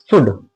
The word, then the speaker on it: should: आज हम कराएंगे आपको नया टॉपिक शुड। क्या कराएंगे? शुड। इसका मतलब होता है चाहिए। क्या होता है? चाहिए। एस एच ओ यू एल डी। इसमें एल की आवाज साइलेंट है। लिखेंगे लेकिन बोलेंगे नहीं।